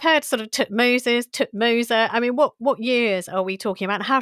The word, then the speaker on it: Thutmose: I think people worry far too much about pronunciation in the past. We don't have tape recorders unfortunately and you can read ancient inscriptions in a lot of different ways. So um I I call them Tutmos.